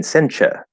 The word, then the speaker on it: sencha: nice little tip here so in in japanese that would be um right with the ah sound uh it might be a little off but i'm saying sencha with a schwa because usually if there's an a that's not stressed at the end of a word we actually turned it into a schwa sound that's part of the